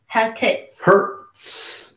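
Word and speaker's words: Hertz: Hurts. Ouch, it hurts. That's how you pronounce that.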